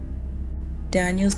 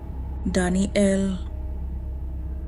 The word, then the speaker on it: Daniel: "Daniel's name only has two syllables. Daniel, but the voice in the forest has been saying it with three. Danny L.